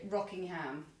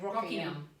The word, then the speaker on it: Rockingham: parents live, which is spelled like rocking chair, but like Rockingham. Yeah. So the Aussies say Rockingham. Oh, we're going to Rockingham. Yeah. But like, if you were in England, you say Rockingham.